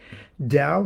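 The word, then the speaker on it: Tao: give it a name Dow Heaven Prosper chance da hath twin phas with Tay okay da is spelled t AO and day is spelled T it looks like to and T da hath twin phas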